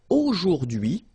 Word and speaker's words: aujourd'hui: So the first one, A-U-O, jour, and then dui. Okay, H is not pronounced, so you only get this dui thing.